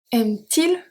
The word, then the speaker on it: aime-t-il: Because the verb here ends with a vowel, and the pronoun starts with a vowel as well. So we have to add something in the middle to have a good flow of pronunciation. We are going to add an hyphen, T, hyphen, which becomes aime-t-il le jus d'orange? Aime-t-il le jus d'orange? The T doesn't have any meaning, it's simply there for a good flow of pronunciation. Just for phonetic reasons.